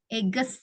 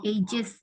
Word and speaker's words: ages: Bukan bacanya bukan ages gitu ya. Tapi ages, G-nya itu dibaca J. Ages.